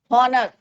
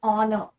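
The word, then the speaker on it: honor: कई बार बच्चे बोलते हैं इसका प्रोनाउंसिएशन की हॉनेस्ट, हॉनर या हावर, तो दैट इज योर रॉन्ग।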